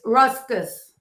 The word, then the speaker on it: ruscus: tall green spriggy thing sticking out yeah it's ruscus ruscus oh yeah that's how you say it